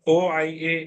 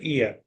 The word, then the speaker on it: Oia: OIA is pronounced as Ia, not Oia, rather Ia.